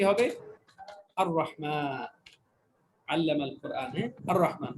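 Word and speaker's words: الرحمن: আর রহমান, আল্লামাল কোরআন, আর রহমান। তাহলে আর এখানেও লাম উচ্চারণ রহমান হয়নি, লাম উচ্চারণ হয়নি, তার মানে এই রটাও কি হরফে শামসিয়ার অন্তর্ভুক্ত।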